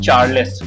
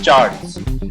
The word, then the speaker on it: Charles: अच्छा, एक चीज़ जो अक्सर लोगों को गलतफहमी होती है कि इसको लोग प्रोनाउंस करते हैं चार्ल्स। इट्स नॉट चार्ल्स, इट्स चार्ल्स।